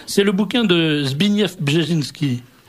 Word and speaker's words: Brzezinski: C'est le bouquin de Zbigniew Brzezinski. Ah oui, ça s'écrit comme ça, ne se prononce pas.